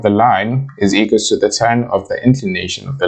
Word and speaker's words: theta: So this angle, this theta, that is how you pronounce this Greek symbol thingy, it's theta.